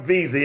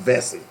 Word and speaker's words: Vesey: And I believe it's pronounced Vesey, okay?